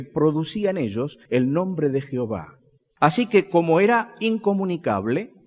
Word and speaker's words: Jehová: término para no mencionarla algunos dicen que la pronunciación de Jehová Debería ser yahvé sin embargo creo que podemos por lo que he leído tener confianza de que el nombre de Jehová está bien pronunciado de esta forma Por qué los judíos